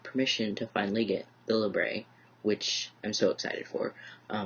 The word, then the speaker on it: labret: based off of French, if it's got an ET at the end, it's usually pronounced as an EY sound and not a ET sound.